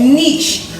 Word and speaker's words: niche: yourself up as a niche agency or niche however you want to pronounce it someone that has expertise